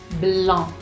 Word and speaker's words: blanc: Entonces, sentir, sentir, blanc, blanc. Entonces, obviamente que tenemos acá la boca más abierta. Sigue siendo un sonido nasal, pero tenemos también el rostro mucho más ligero, mucho más relax.